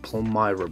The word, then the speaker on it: Palmyra: It should be pronounced Palmyra brush. All right, if you go to Google, you have this pronunciation here. Palmyra.